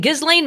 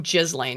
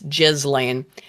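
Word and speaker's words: Ghislaine: Then Gizlane Maxwell is in prison uh on lies. Oh, Jizzlane. Yeah, I always forget because it's spelled with a G, but and yes, Jizzlane.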